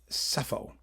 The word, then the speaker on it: Sappho: Hölderlin and Sappho. Yeah. I don't pronounce the P. Sappho.